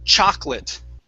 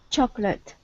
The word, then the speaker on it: chocolate: okay next up is chocolate okay so this second o we do not pronounce so instead of saying chocolate it's chocolate chocolate very nice very nice